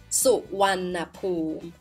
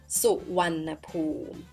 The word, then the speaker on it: Suvarnabhumi: So your first lesson in Thai is pronouncing it Suvarnabhumi. Suvarnabhumi.